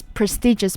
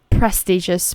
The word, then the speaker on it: prestigious: Again, so here I heard some people tend to say it as prestigious, but actually it's prestigious positions.